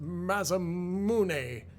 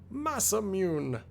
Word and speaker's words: Masamune: Sometimes pronounced masamune, sometimes pronounced mazamune, but I'm going to say masamune.